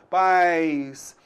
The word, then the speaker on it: pais: Muito diferente da palavra país. Pronuncie então pais. País. Você notou aí? Duas vezes dando esse toque aqui. Concorda comigo? Beleza. Então na palavra país, opa, pais, apenas uma vogal. Então apenas uma sílaba. País, eu tenho duas vogais, o A e o I. Opa, então nesse caso aí, você notou que a gente tem duas sílabas, cada vogal com a sua sílaba.